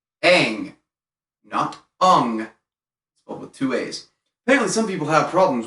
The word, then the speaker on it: Aang: important to note that the pronunciation of his name is and always will be aang apparently some people have